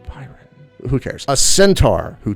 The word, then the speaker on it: Biron: What if I told you that this horse didn't come from Krypton, but was actually a centaur named Byron, or Biron? It's spelled B-I-R-O, Byron.